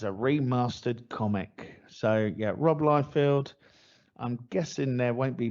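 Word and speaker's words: Rob Liefeld: timers what else we got damon we've got rob lyfield yeah how you yep that's how you pronounce his name yeah robloyfield's prophet is returning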